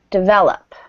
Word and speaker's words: develop: third paragraph oh um develop develop thank ya stress on that second syllable develop good me